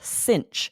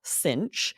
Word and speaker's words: cinch: that something is a cinch. So these sound a little bit like they mean the same thing. Is a snap and is a cinch. It's spelled differently than you might expect. Yeah, Cinch.